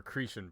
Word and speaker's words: Cretan: Or Cretan princess. That's how you pronounce that.